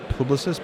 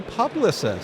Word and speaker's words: Publicis: I've come to pronounce Publicis as Publicis because it's a French company and we all just refer to it by the French name. But I was talking to somebody who said, "Oh, Publicis."